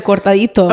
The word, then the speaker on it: cortadito: It's a cortadito. Okay, well, I didn't want to confuse. A cortado?